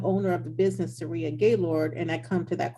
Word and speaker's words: Gailliard: Ah, I really thought it was Gerard or something like that. So I feel really bad. It's Gaylord. yeah, actually it's French. It's actually pronounced Gailliard. Gailliard. Okay. Yeah, in New York, we call it Gaylord.